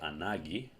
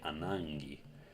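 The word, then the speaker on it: ανάγκη: You can pronounce gamma kappa either as a g or as ng. You can say anagi or you can say anangi.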